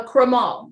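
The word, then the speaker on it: crémant: do wear this lovely so this is a cremael the tea is silent it's made the exact same way this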